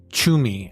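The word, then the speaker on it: Tschumi: feature about Swiss anthropologist Regula Chumi, I think we're going to pronounce it. It is T S C H U M I.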